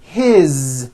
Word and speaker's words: his: His, same thing. It also has a voiced Z ending.